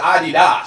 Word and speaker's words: Adidas: Apparently, THAT'S HOW YOU PRONOUNCE ADIDAS. It's Adidas. SO, I LOOK LIKE THE SHE WAS good sport about it.